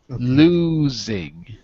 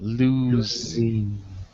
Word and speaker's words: losing: competitors that's it pronunciation losing losing with a z like zebra losing that's it and you